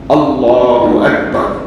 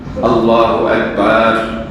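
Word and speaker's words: الله أكبر: আল্লাহু আকবার বলেন, আল্লাহু আকবার, আল্লাহু আল্লাহু আকবার। আল্লাহ, লার মধ্যে শুধু টান হবে, লা।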